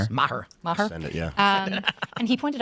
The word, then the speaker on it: Maher: How do you pronounce his last Bill name? Maher.